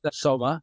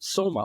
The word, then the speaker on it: Soma: was quite apparent that soma or Som as it it should be more correctly pronounced I suppose or Som Ras the